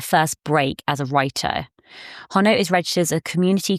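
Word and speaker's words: Honno: I'm pronouncing this right it's spelled h n n o so I'm going to say hono so hono is a Welsh women's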